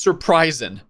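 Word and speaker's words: Sir Prysin: Surp Oh my god, his name is pronounced surprising.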